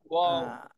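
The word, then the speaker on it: واو: ওয়াও। আহ, জি এটা কোন জায়গা থেকে উচ্চারণ হবে বলবেন। এটা হচ্ছে ওয়াও। জি, এটা উচ্চারণ হবে কোন জায়গা থেকে। ওয়াও। দুই ঠোঁট গোল করে উচ্চারণ হবে, দুই ঠোঁট গোল করে।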